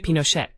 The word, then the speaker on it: Pinochet: C'est Pinochette, pas Pinochet avec un A.